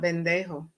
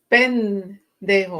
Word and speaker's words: pendejo: It's not bendejo. What does bendejo mean? It's pendejo.